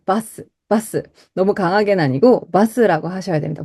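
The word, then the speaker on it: バス: 너무 강하게는 아니고, 바스라고 하셔야 됩니다. 버스 아니에요?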